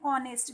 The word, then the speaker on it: honest: We are saying honest. We are not saying honest. So in two places we have to use an and. First one before the vowel sound, and second one when H is silent.